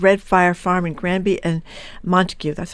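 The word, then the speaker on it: Montague: Ryan and Sarah Volen, coowners of Redf Firefarm and Granby and Montikue.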